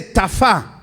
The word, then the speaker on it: tafá: Entonces Jubal en hebreo viene de tafá. Tafá, T-A-F, acento en la A, última A, tafá.